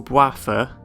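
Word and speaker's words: Bouapha: So the goal of the game is that you're Boaffa. I'm not kidding you, that is the character's name, and I'm pretty sure that's how you pronounce it as well.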